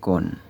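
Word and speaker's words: Coen: Yang kedua, cara yang dinilai oleh Gubernur Jenderal J.P. Koen ya bacanya, sebagai satu-satunya cara yang paling cepat dan tepat untuk mewujudkan monopoli perdagangan pala di Banda adalah, J.P.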